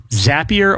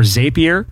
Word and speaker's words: Zapier: But it's a tool called Zapier or Zapier. People call it different things.